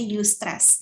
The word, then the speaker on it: eustress: Yang kedua itu namanya eustress, tulisannya eustress, bacanya eustress.